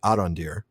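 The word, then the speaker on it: Arondir: Arandir, I'm sorry, I've called him that forever, but it's really Arandir. So, let's just we'll get the pronunciation right. It's Arandir.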